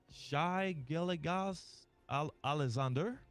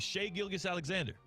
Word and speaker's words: Gilgeous-Alexander: Shai Gilgeous-Alexander? Wait, Shai Gilgeous-Alexander, excuse me. said it wrong. MVP or excuse me, not the reigning MVP. Yeah, the reigning MVP and maybe two-time MVP, Shai Gilgeous-Alexander.